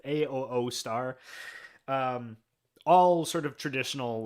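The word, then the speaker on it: Asustor: Um I've got my own NAS which is like a company a Auster is what I how I pronounce it. A O star.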